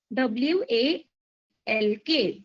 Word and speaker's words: walk: catch it next action walk w a l k walk so your L is silent okay now the boy